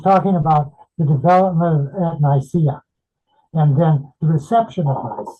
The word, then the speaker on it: Nicaea: And I hope you pronounce both of the A's in Nicaea.